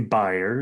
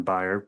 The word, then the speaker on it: Bayer: So, I I would say buyer is I guess the way that I pronounce I think it's the way that they would pronounce it in German. buyer, but nevertheless, they're a